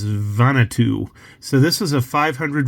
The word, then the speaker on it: Vanuatu: the letter V and I've always called it Vanuatu but I I had a friend who pronounced it the other day and I love the way they said it so I may try to say it differently and who knows it may be the right way and he pronounced it as vanatu so this is a